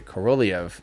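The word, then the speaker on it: Korolev: uh cor uh co sorry co corolliev there corolliev that's how you're supposed to pronounce it i'm still trying to learn before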